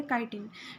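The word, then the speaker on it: chitin: इसको कई लोग चिटिन भी बोल देते हैं, नहीं, इसकी करेक्ट प्रोनाउंसिएशन क्या होती है, काइटिन।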